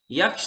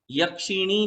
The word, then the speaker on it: यक्षी: यक्ष और यक्षियों के, पहले तो एक बात, यक्षिणी नहीं कहना, यक्षी कहना। बोलो। प्रचलन में यक्ष यक्षिणी ऐसा है, किंतु व्याकरण की दृष्टि से बिल्कुल गलत उच्चारण है।